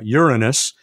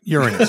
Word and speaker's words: Uranus: to go to uh uranus which is by the way the right the correct way to pronounce it uh john take note uranus okay okay i know